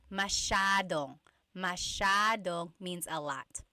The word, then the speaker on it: masyadong: Masyadong means a lot. So the S-Y-A is a sh sound.